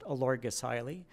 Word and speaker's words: Olorgesailie: It's pronounced Olorgesailie. It's a Maasai word, a place name for the famous Maasai people who live in the region.